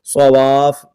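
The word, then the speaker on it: صوافّ: مسقل کریں گے، تو اس کو پڑھنا کیسے ہے؟ علیہا صواف، اس طرح واو کو فا کو جماؤ کے ساتھ، اس کا ہجے کیسے کریں گے؟ صاد زبر صا، واو الف فا مد زبر واف، اس طرح ملائیں گے، واو الف فا مد زبر واف، فا زبر فا، صواف، لیکن جب آپ وقف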